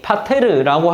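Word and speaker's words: πατήρ: 여기서 등장하는 아빠라는 단어는 아라머 곧 히브리 사람들이 부르는 어떤 호칭으로 이해할 수 있고 아버지라는 단어는 발음이 파테 파테르라고 할 수 있는데 헬라어입니다.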